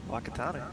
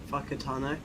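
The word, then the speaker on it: Whakatāne: Wakatani. I don't No. think so. They don't pronounce the WW. They Okay. pronounce it as Jack. what a Jack, what is it? Fakatano.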